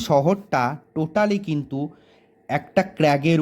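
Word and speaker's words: crag: totally কিন্তু কিন্তু একটা ক্র্যাগের উপরে অবস্থিত কোন ক্র্যাক না রজমল রজমল ক্র্যাগের উপরে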